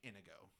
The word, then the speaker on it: Inigo: love man andano Montoya I do like that he says anigo Montoya the people in the story say anigo Montoya the grandfather and Son say like Inigo they pronounce it differently I like that they